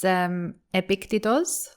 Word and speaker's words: Epictetus: Well, in Greek, it's Epictetos.